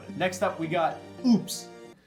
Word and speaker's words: Oupes: Next up, we got Oupes. It's pronounced Opus.